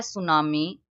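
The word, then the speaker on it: tsunami: start होता है ए सुनामी T silent है इसमें सुनामी क्या होती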